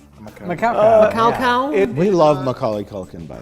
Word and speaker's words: Macaulay: And its name is pronounced Macaulay. Macaulay.